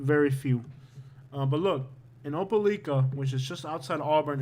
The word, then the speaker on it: Opelika: be let's look at opeliga and i'm sure i'm pronouncing that wrong still i think it's pronounced opelika like kind of like opa-locka in florida you can buy a